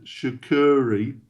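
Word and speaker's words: Sucuri: I utilize two now sh I'm going to butcher their name shakuri um are very well known s u c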